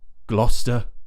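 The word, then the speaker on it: Gloucester: some of these places that end with wor gluster and Lester so the reason I'm talking about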